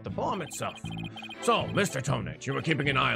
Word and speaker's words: Tonate: So when I was originally playing this game, I was pronouncing Ted Tonate's last name as if it were Japanese, saying Tonate. And thus the pun Tonate. flew over my head Oh no.